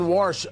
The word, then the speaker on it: Warsh: And it's Warsh. I'm not pronouncing Washington wrong. W-A-R-S-H is his name.